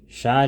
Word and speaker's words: Sade: Okay, next we got Sade and Smooth Operator. You say her name like that like an H is here. Sade and hyphenated E.